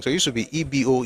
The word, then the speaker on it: Igbo: And um no, no, the pronunciation is Ebo, but the spelling should be evil.